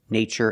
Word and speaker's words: nature: Furniture nature and natural we pronounce the TU with the chch sound like chicken when there's no stress after the T in these words there's no stress after the T so we pronounce it CH Adventure Furniture nature and